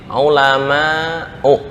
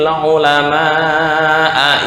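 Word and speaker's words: العلماءُ: Innama yakhsyallaha min ibadihil ulama'u. Ya, mungkin karena grogi atau apa, akhirnya bacanya innama yakhshallahu min ibadihil ulama'a innallaha azizun ghafur. Kalau dia sadar, ya, itu bisa mengefek ke kekufuran.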